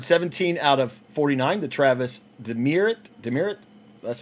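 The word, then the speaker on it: Travis Demeritte: Is numbered 17 out of 49, the Travis Demerit, that's how you pronounce his name.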